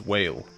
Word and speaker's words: Wile: I believe Wile's correct pronunciation is whale. But Wile sounds like the question why.